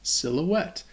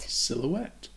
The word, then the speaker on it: silhouette: it is it's just silhouette and it sounds i think the same in french like pirouette silhouette what are you doing